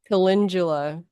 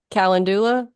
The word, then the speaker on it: calendula: me so that's awesome when you say kalindula like calendula yes okay I'm not sure which way you pronounce it yeah caula I think I've heard it actually both ways I mean that's the